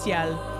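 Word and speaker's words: Sciel: actually in the game they spell it with an S It's s c i e l i my assumption is that they've included the S so that non French speakers would understand how to pronounce seel cuz I don't think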